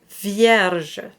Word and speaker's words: vierge: The V is the most important, but the R is right next to the next syllable that starts with a j sound. So you have vierge. So the flip of the R is very light because you don't want to get in the way of your next syllable.